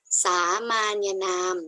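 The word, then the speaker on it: สามัญนาม: ที่ 1 นะ คะ สามัญ นาม อ่าน ว่า สามาน นาม นะ คะ คือ คำ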